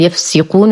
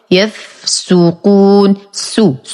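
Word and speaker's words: يفسُقون: آخر كلمة في الآية 59 كلمة يفسقون بضم السين وليس بكسرها، فلا أقول يفسقون وهذا خطأ، والصواب يفسقون، يفسقون.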